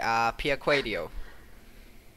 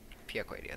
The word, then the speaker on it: Piacquadio: Piacquadio. With Piacquadio. Piacquadio, that's right.